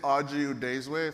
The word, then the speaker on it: Oji Udezue: me my name is aju desway phonetically put in front of you a product manager occasional